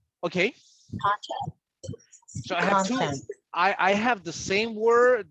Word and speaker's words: content: So you got two words with the same spelling and a different intonation, but the meaning will change.